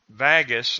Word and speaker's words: vagus: and it is through the vagus I'm sure that's a short a the vagus nerve bundle